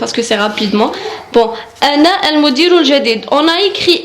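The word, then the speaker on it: أنا: Je en arabe c'est ana. Ana, c'est pas ana, c'est ana. Ana. Le A, on le prononce comme alif, ana.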